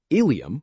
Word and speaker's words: ileum: First, some words sound exactly the same but are spelled differently and have completely different meanings. For example, ileum with an e refers to a part of the intestine, while ilium with an i refers to a part of the hip bone.